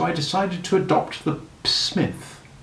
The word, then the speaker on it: Psmith: decided to adopt the smith p i should add for your guidance is silent as in pisces psychic and tarmigan do you follow me